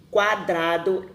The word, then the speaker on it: quadrado: Quadrado, esqueleto, 50, quintal, tranquilo, cotizar. Então, quando o QU está acompanhado das letras A e O, as duas letras, né, do encontro QU são pronunciadas.